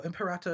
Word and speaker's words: Imperator: Well, Imperator is how you would pronounce it in ecclesiastical Latin.